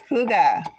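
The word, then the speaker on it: hygge: you now I know how to say it Huga Huga hestad okay I'm G to go and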